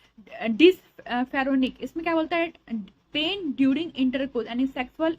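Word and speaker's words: dyspareunia: area में पेन है ठीक है पेल्विक में डिस फेरोनिया पेन ड्यूरिंग इंटरकोस यानी सेक्सुअल इंटरकोस के दरमियान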